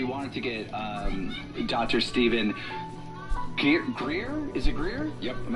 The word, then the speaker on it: Greer: Stephen Greer. Have I pronounced that correctly?